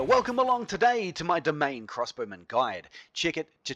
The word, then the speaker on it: Demesne: domain this word here d-e-m-e-s-n-e is pronounced domain don't believe me go